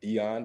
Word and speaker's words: Deion: uh you can add me on facebook at dion so like you can spell it just like dion sanders that's d-e-i-o-n then